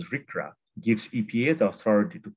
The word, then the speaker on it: RCRA: The Resource Conservation and Recovery Act, pronounced as RCRA, gives EPA the authority to control hazardous waste from cradle to grave.